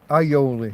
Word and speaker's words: alioli: Ioli. You don't pronounce the L's the double L.